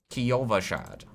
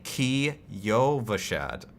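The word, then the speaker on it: Kyovashad: is and then here kova Shad I don't know why people say people say kashad there's not two syllables there I've heard blizzard developers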